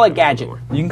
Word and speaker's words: GDGT: the Twitter handle is GD GT like Gadget like Gadget without the vows if you want to know know how to pronounce it and here's the logo